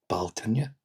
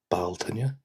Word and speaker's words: Bealtaine: And now, May, Bealtaine, Bealtaine. Bealtaine. Baltane.